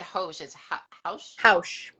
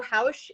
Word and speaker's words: Haux: your community group um how do you say it again because i said hoes okay yeah so um so house is the sound that the snake makes okay okay um so